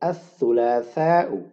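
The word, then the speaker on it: الثلاثاء: Tuesday, इसको हम कहते हैं अस-सुलासाउ. अस-सुलासा मंगल. अस-सुलासा मंगल, और ये उसकी लिखी है मैंने अरबिक प्रोनाउंसिएशन, और ये उसका इंग्लिश तर्जमा ट्यूसडे.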